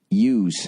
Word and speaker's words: ewe: I need the magazine capacity of the AR-15 or a similar gun because I only have 4 milking ewes. Is that how you say it?